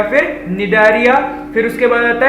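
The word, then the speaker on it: Cnidaria: इसे कहते हैं सिलेंटेरेटा या फिर निडारिया नहीं कहते इसको, निडारिया कहते हैं, सी इज साइलेंट, ठीक है, निडारिया कह सकते हैं आप।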